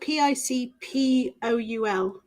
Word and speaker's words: Picpoul: It's spelled Picpoul.